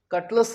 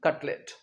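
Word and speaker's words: cutlet: कटलेस नहीं कटलेट।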